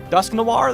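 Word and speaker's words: Dusknoir: Dusk Noir, that's how you say it.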